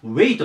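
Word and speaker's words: wait: まず 1 つ目これ発音がウェイトですこれワイトって書くんでねどうしてもワイトって言いたくなるんですけど発音はウェイトになりますで意味が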